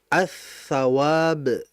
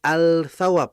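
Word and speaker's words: الثواب: kan pahala ganjaran ya kalau kita masukkan alif lam ya lam mati maka dibacanya atawab bukan alawab bukan karena memang dia ini adalah idgham assyamsiyah kemudian SH Shad kalau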